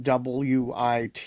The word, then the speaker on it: WIT: to convince people that WIT is pronounced wit, not white or We saw this with Ben Weisner.